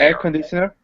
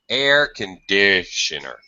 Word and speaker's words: air conditioner: air conditioner air conditioner so this primary stress instead of being a high pitch here okay this is going to be a very low pitch air conditioner you hear the difference oh conditioner air conditioner